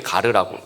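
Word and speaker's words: γάρ: 이 가르라는, 이렇게 읽을 때 가르라고 읽습니다.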